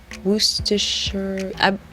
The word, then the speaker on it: Worcestershire: we need Worcestershire sauce Worcestershire you don't pronounce the R in the word but I'm pretty certain